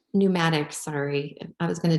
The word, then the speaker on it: Pneumatics: Pneumatics. Pneumatics, sorry.